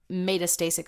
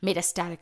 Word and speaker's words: metastatic: that are necessary for metastasic spread it meta I said it wrong metastatic spread uh within cancer and